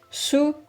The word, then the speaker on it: Hsu: How do you pronounce that? Su.